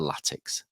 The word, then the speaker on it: Latics: it's a it's again it goes back to pronunciations uh and local dialect so it's an athletic suffix so letic so it's it's basically the letics if it was in if we were in 2024 which we are and they were formed today they'd be called the letics but as it was and how they pronounced announced it back then it's the latics but killer how have